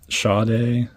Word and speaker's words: Sade: I mentioned it with the Sade best of that I got, which, yeps, I am pronouncing it correctly now.